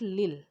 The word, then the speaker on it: Lille: as head of the college of science at lille it is pronounced as lynn which was situated in the